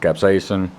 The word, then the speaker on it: capsaicin: all right capsization yes the thing is pronounced capsaicin it's the essence that